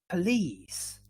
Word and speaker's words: police: So the stress is in the second syllable, lease, this sound, and the previous one is p. Police, police. So even if it is an O, we don't say police, police.